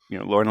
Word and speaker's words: Lorne: I'm like, it's Lorne. Just one syllable.